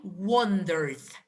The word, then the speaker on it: wondered: Now, the pronunciation of this verb, I wondered. The final ed is pronounced as a d.